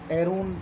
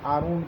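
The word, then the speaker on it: Aaron: मिसाल के तौर पे हज़रत हारून अलैहिस्सलाम को हम हारून लिखते हैं, लेकिन مغرب والے اپنے تلفظ میں اس کو ایرون پڑھتے ہیں یا آرون پڑھتے ہیں، اے سے اس کو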